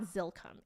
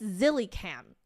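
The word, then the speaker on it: Zillycam: much I just realized it's not zilkum it's zilly cam I am so sorry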